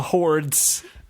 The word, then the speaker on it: hordes: A hordes. It's spelled horse with a D right in the middle.